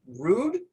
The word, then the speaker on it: Ruud: here this is miss susan i believe it's pronounced rude yep and she is the president and head